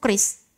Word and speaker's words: QRIS: Saya dulu bacanya QRIS gitu. Ternyata menurut KBBI salah. Bacanya tuh kris. Kalau QRIS itu berarti you speak in English gitu.